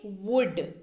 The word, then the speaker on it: would: आगे बढ़ते हैं तीसरे नंबर शब्द की ओर, जो कि है वुड, WOUL, लकड़ी वाला वुड नहीं, इसका उच्चारण है वुड, इसकी स्पेलिंग है WOULD, राइट। उच्चारण कैसे करेंगे, वुड।